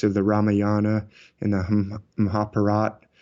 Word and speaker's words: Mahabharata: the Ramayana and the Mahabharata which is spelled like Mahabharata but I think they pronounce it Mahabharat yeah mostly but anyway